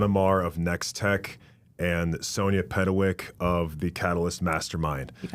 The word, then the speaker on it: Petkewich: I am here with my guests and fellow speakers of the last event, John Amomar of NextTech and Sonia Pedawick of the Catalyst Mastermind.